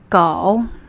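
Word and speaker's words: 狗: sofa dog in chinese chinese is go the oh you again oh go go it's like go go go in english but third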